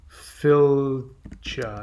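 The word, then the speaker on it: fylgja: a fetch f-e-t-c-h or the norse uh pronunciation would be phil cha i don't know how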